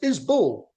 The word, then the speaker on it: Isbell: fan even though he doesn't know how to pronounce the name and he's going to learn that from this video. It's is Bull Sean him.